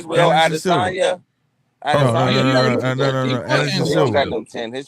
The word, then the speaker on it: Adesanya: Andesando? No, he said it right. Adesanya.